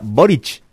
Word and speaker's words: Boric: asunción de gabriel boric y así es la pronunciación correcta moriche ahora bien en el discurso de gabriel boric